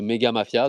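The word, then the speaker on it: Mega Mafia: Vous avez le Twitter de Megga Mafia, donc c'est AT Megga Mafia comme ça ça s'écrit comme ça se prononce.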